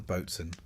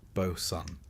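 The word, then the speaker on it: boatswain: Back on deck, you'll meet the Bosson or Bosen, pronounced Boson because sailors like to keep you guessing.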